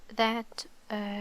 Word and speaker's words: ث: We can remember that it has 3 dots, okay, above, and also we can also remember that it's pronounced like the th in 3. It's tha, tha.